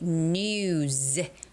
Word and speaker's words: news: Uh same thing goes with the word new, new, and then S. New, uh is a voiced sound. So, you would have to say news. News.